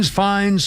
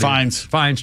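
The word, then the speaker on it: Fiennes: Is it Fi Fines? Fins. Rafe. Uh, Joseph. Ralph. How do you pronounce Ralph?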